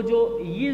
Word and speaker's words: ज्ञ: अब इसमें ध्यान रखना है ज्ञ, गे का उच्चारण हम जो करते हैं वो गे, हम मान लेते हैं गे और ये होगा इसमें, लेकिन इसमें ध्यान रखना है कि इसका उच्चारण होगा जय और ये को मिलाने से।